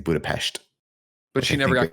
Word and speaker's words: Budapest: It's 20 kilometers or some shit, and also here's a bunch of mail from Budapest."